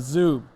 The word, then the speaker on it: Zuub: Man, so, when I think about Zuub, it's like Zoom, but with a B. That's the best way to pronounce it.